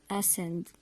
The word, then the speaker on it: ascend: and so on so we don't pronounce the letter C we read the word as if it's not there let's read the examples we have these words scissors send science crescent descend ascend and their meanings are